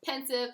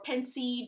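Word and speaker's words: Pensieve: rowling's hand for because pensive or pencil depending on how you want to pronounce it pensive is thoughtful the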